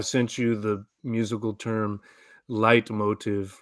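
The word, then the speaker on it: Leitmotif: you the musical term light motive right this is from vagian Opera it's like a repeated um Musical Motif it's German so light Motif oh yeah okay but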